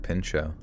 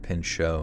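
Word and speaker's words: Pinchot: he's saying gford pincho there's no T at the end just I mean maybe maybe there's locals that pronounce it with a hard T CU it's you know sometimes there's differentiations there kind of like Appalachian or Appalachian or all that kind of but everybody I'm seeing here says gford pincho like it's French you know gford pincho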